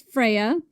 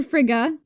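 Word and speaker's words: Freyja: So, one night the god Balder, son of the goddess Freya or Fria, there's many ways to pronounce this, had a bad dream that he was going to die.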